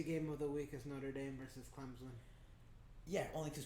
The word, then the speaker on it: Notre Dame: I was really surprised by Notre Dame. Alright, let me pronounce it correctly. Notre Dame.